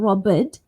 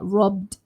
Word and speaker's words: robbed: So not robbed, but robbed with a d sound.